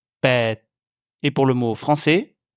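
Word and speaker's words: แปด: En thaï, le son s'arrête d'un coup au moment où vous prononcez la lettre. Pour les chiffres, on dira donc hok, jet, pet.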